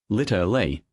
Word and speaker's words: literally: In American English, the middle sounds are reduced, literally, often even litle. Literally. 3 syllables. The L drops out.